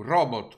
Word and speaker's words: robot: Doveva essere un robot con l'accento sulla prima O e la T pronunciata.